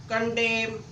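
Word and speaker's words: condemn: क्या है N silent यदि एम के बाद एन आए तो एन साइलेंट होगा जब भी एम के बाद एन आए तो आपका एन साइलेंट होता है कॉलम कंडेम आटम देखो एम के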